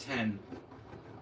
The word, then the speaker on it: X: X is pronounced 10. Okay, so it's the 10.